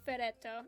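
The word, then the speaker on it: フェレット: is it I'm like it's it's ferretto and she's like it is and I'm like yeah it's just fair fair in Japanese it's just ferret and she's like oh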